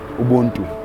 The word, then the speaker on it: Ubuntu: Ubuntu.